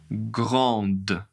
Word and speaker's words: grande: Elle est grande. Elle est grande. Attention, le D va être prononcé.